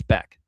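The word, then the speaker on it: Bäck: And by the way, it's Back. Don't be fooled by the spelling. It's not Back. It's Back. Even though it's spelled Back. Hope that makes sense.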